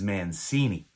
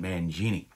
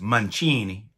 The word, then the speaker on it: Mancini: has told me my name in italy is mancini not mangini she said it's pronounced mancini and when we came over on the boat